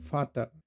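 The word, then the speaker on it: Vater: আর ভি এর উচ্চারণটা হয়ে যায় আবার এফ এর মতো মানে ফাও। যেমন ফাটার।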